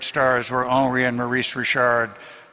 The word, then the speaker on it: Richard: were ony and Maurice Rashard G laflor Jac leant and Jean Bello uh by the way my wife's my wife's last name for we married is rishard from the French Richards I used to refer